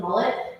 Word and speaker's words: Mullet: As the judge mentioned, my name is Mullet. Like the bad haircut, I always tell everybody. It's a married name, it's not my choice, but that's how they pronounce it.